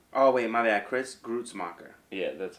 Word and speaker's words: Gruetzemacher: Chris Gruetzemacher. Yeah, that's how they pronounce it.